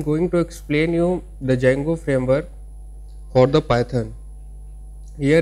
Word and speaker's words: Django: Django is pronounced Django. The D is silent.